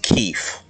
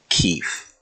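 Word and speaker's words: Keefe: And I would pronounce that Keef, by the way. Keef. Which has another meaning, which we're not allowed to talk about, so... Even though I always spell it K-E-E-F-E.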